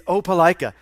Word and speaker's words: Opelika: It's not pronounced, how did you pronounce it? Opelika? It's Opelika.